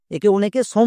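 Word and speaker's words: some: এস ও এম ই সম উচ্চারণ করছো বাট সম উচ্চারণ হবে না এর উচ্চারণ হবে সাম কেন হবে এর জন্য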